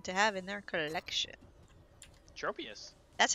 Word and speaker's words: Tropius: wants a Pokemon to have in their collection Tropius that's how you say it everyone just hates